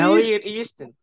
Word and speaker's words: Elliot Easton: I can't pronounce it. Is it Easton? Yeah, Elliot East. Elliot Easton.